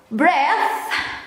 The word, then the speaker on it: breath: Kalau breath nggak pakai E, breath itu napas. Tapi ini pakai E, jadi bacanya breathe. Kalau nggak pakai E, bacanya breath, napas.